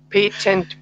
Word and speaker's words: patent: mean shiny shiny shiny boots yes shiny boots pay tent boots that's it and the last word is